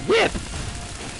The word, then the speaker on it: WIP: That's not how you say that, it's pronounced whip!